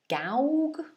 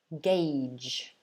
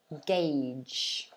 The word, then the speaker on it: gauge: the spelling um people might think that it's pronounced something like gouge or gauge i guess but actually it's not pronounced like that at all it's pronounced gage gage so it's a gauge um a couple of comments about the previous